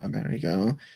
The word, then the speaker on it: Amerigo: spell your your monk's name uh it is a m e r i g o can you say it one more time say like how do you pronounce it amerigo okay i like that name